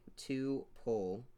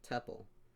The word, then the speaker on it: tuple: known as a tuple some people pronounce it like two pole others pronounce it like tuple rhymes with couple but it's not spelled